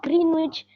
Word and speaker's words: Greenwich: I wanted to tell you that it's it's pronounced as the Greenwich Meridian and not military and I just got